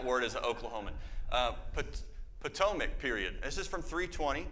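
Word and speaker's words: Ptolemaic: I think it the P is silent. No PTOIC. Okay. I'm so worried about saying that word as a Oklahoma uh PTOAC period.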